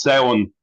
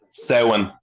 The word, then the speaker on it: Samhain: It's pronounced Samhain. Say it again. Samhain.